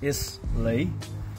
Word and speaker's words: Islay: foreign whiskey is from the Isla which is at the south of Scotland you spell it is Lay for an American or English speaking but you pronounce it Isla which if you hear